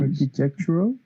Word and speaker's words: architectural: Architectural. The stress is here, architectural.